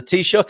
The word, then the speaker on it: Taoiseach: And the Taoiseach, is that the right way of pronouncing the leader? Yeah, that's very good.